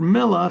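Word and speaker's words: מלח: Now the word melach has a chet, but it's pronounced the same thing as melach, as God, being a king.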